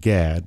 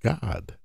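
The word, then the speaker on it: Gad: Israelites named the tribe of God most people pronounce it gag but it's actually pronounced God but where does that term come from that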